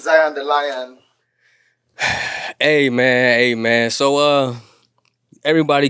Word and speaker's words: Zion deLion: So, my name is Zion the Lion. We spell it as Z I O N D E L I O N.